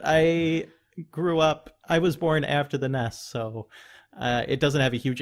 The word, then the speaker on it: NES: And with the description, Nintendo themselves say that it's pronounced NESS, NES.